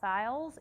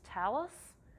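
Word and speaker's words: Thales: those who don't know it's not sales it's telus okay it's yeah it's it's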